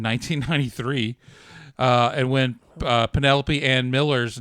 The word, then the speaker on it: Penelope: Uh, and then the joke about pronouncing uh Penelopey as Penalope came about when Jay and Kevin went to a screening of Carito's Way in 1993. Uh, and when uh Penelopey and Miller's name came up on the screen,